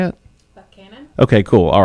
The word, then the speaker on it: Buchanan: Buchanan.